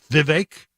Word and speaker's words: Vivek: vague I was told you pronounce it like Viv cake like the word cake with Vivek yes ramaswamy okay so